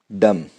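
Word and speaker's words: dumb: Com, Baum, lamb, climb, डम। इसमें बी की साउंड नहीं आई है, क्यों? बी साइलेंट था, क्यों? एम के बाद आया।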